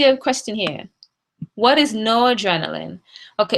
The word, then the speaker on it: noradrenaline: And again, it's spelled N-O-R-A. It's one word, noradrenaline, not no adrenaline. It's noradrenaline. All right?